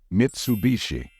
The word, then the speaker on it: Mitsubishi: take a moment to think and the right pronunciation of this brand is Mitsubishi I am sure most of you got this one right gal found out we're also talking to Mitsubishi I got China investment and Mitsubishi kicking my